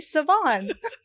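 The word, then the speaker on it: Svaan: Anyway, I said, it's Svann. Yo, yeah, it's Annie Svann.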